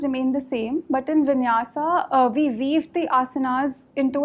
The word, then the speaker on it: Vinyasa: Now, you have mentioned as one of your extracurricular activities, what is Vinyas Yoga? Yes, sir. What is it? How is it pronounced? Sir, Vinyasa.